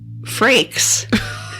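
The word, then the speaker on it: Frakes: on this podcast Jonathan fraks that's the first and only time we're ever going to say his name correctly I hope she didn't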